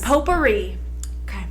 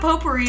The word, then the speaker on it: potpourri: the Tea Company Pottery the tea is silent p-o-t-p-o now you're making